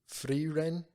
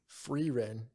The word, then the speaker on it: Frieren: Multiple people say her name differently. So, Frieren. Frieren. Frieren. Fucking Christ, bro. Some people do the tongue flip on the R. Some people don't. And some people do E.